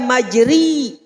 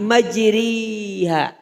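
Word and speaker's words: مَجْرٜىٰهَا: itu Mbah Ulil menyebutkan tidak majri bukan juga majre tapi majriha jadi sedikit aja enggak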